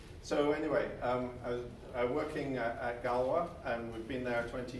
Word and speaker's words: Galois: ogi and then I started a company called Galois that's how you pronounce it it's named after the mathematician every